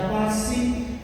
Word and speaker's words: pati: Itu artinya passion itu dari kata pati, bahasa Latin, tulisannya pati, bacanya pasi.